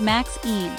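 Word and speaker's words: MXene: Then there's a super cool material called MXine, pronounced Max Een.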